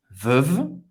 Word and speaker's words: Veuve: Você vai acabar no segundo V. Veuve. Não vai pronunciar o E. Clicquot. Clicquot. O T não vai ser pronunciado. Hein? Não é Veuve Clicquot, é Veuve Clicquot.